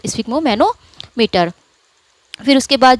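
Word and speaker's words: sphygmomanometer: ये होगा स्फिग्मो, पहले इतना आप इसको प्रोनाउंस कीजिए, स्फिग्मो और फिर मैनोमीटर, स्फिग्मोमैनोमीटर।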